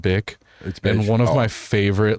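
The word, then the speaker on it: Bich: Her name is spelled like bitch, but it's pronounced bick.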